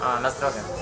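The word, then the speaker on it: na zdrowie: Nazdrowie. Nazdrowie.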